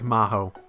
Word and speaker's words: 魔法: You say magic like Maho.